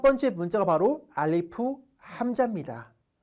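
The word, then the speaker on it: ألف: 여기서 제가 써준게 뭐냐면 F 발음만 주의하라고 써드렸죠 알리프 할 때 우리가 미니가 아래 입 살짝 닿아야 돼요 함정에 말하고요 함자라는 거는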